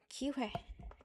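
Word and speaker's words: 기회: It's a bit hard to pronounce because it doesn't come at the starting part of the word. Ki hwe. Ki hwe. So, you need to prepare to make this hwe clear who sound, he sound. And you need to make this clear we sound.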